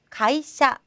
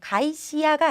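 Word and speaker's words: 芸者: 단어로는 가이샤. 자, 가이시야가 아니죠. 가이샤, 샤 발음이 되고요.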